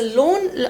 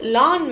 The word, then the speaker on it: lawn: and one last fact the loan I mean laan not loan I know my pronunciation not always great uh sorry for that English is my second language so lawn maintenance the lawn maintenance